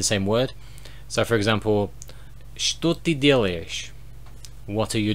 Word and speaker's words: что: of pronunciation exception because it's written with a ch, but it's pronounced with a sh. So it should be что, which just sounds really weird. No one pronounces it this way, they pronounce it like a sh sound, so it's kind of a weird exception.